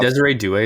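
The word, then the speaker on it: Désiré Doué: Desire do. Good play. We'll finish there. Pleasure, lads, as always. I think Desiree Doué is the first player I've pronounced correctly.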